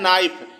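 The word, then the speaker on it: knife: हो जैसा पहला है नाइफ के एन आई एफ ई तो यहां नाइफ में के साइलेंट है और नॉक के एन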